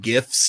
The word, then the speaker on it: GIF: One of my favorite GIFs to use, and it's pronounced GIF, when I respond to somebody and they tell me something amazing over text.